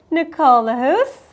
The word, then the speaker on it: Lahousse: Nicole Lahousse, how are you? Great, thank you. I pronounced that correct? Yes, Okay, you did.